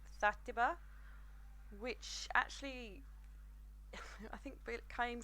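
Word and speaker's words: Xàtiva: like their underground, called Zatiba, which actually I think came from the Valencian word as well, which, because it's spelt very different to how I'm pronouncing it. It actually starts with an X.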